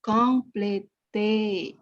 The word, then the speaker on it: compléter: Di atas E kan ada aksen tigu, dibaca compléter. Compléter.